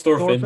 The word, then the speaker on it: Thorfinn: It's Thorfinn.